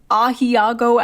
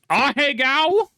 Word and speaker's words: Ahegao: Just make sure it's not one of those like Ahiago anime shirts, though. It's pronounced Ahegao.